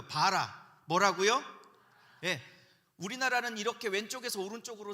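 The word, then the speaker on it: ברא: 이때 창조하다라는 단어는 히브리어로 제가 썼지만 바라라고 읽어요. 바라.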